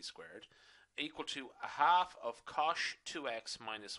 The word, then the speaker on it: cosh: as shine okay and hyperbolic cosine which are going to pronounce as cosh okay so just for the